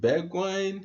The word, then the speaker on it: Bergwijn: Is it Bergwijn? Yeah. Even Mourinho can pronounce that name correctly, so you can't blame me for that.